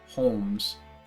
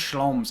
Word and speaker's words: Holmes: Holmes with an H, the L is silent, I can't do it. Holmes. He's just Shloms.